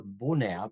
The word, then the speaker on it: Bunea: Full name, full disclosure, Bunea, or Bunea, pronounced in original Romanian.